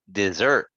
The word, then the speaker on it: dessert: dessert fur were good try this one again um dessert dessert good we don't want to get it confused with the plates the place is called a desert okay like um you know like in Saudi Arabia for example or um in Sudan so that's called a desert but dessert is like this picture right ice cream cake so we want to say desserts different than deserts a little different